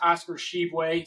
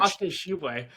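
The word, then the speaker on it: Oscar Tshiebwe: mentioned with my team and his name is pronounced Oscar Sheway. So, if you want to pronounce that again, you can give it another Oscar Sheway. I'm I'm gonna take Oscar Sheway here uh to be on my team as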